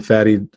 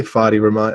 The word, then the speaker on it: Fadi: And you may have noticed my name sometimes is pronounced Fadi or Fadi. either one. Fadi rhymes with daddy, Fadi rhymes with body. So either one is fine.